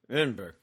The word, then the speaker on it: Edinburgh: Greetings from Edinburgh, the city that's best pronounced by mumbling the second syllable. Oh, Edinburgh.